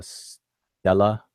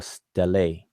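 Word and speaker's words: stelae: Now, my pronunciation um because it come from Latin is it's uh Stella or Stelle or Stelli.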